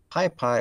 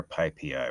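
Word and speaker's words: PyPI: getting some libs um pi pi or pi p i what do we say i think i do both i've pronounced it pi p i as in the power yeah the people who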